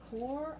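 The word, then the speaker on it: Corps: call your group the core of discovery notice you don't say the p in that word is pronounced poor time she don't say the ass either core the core of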